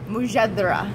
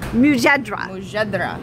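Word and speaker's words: mujadara: of um we're very understanding about pronunciation let's pronounce it real quick it's called what mujadra mujadra okay so tell me a little bit about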